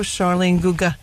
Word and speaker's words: Charline Guegan: So welcome to the show, Charline Guegan. I pronounced it correctly, correct?